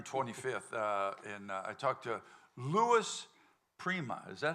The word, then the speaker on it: Louis Prima: And I talked to Louis Prima.